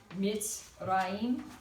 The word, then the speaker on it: Mitzrayim: There's that diphthong, Mitzrayim. But notice the pronunciation is not on the first. Mitzrayim, Egypt.